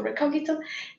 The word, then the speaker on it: Recogito: platform that is called Recogito, or you can choose how you like to pronounce it. I go for Recogito, and I will show you how to use Gazetteers to create semantic annotations.